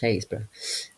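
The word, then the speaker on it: Happisburgh: Uh, Hazes Lighthouse, spelled Happiesburg, but pronounced Hazesborough, um, has what's known as the Pump Hill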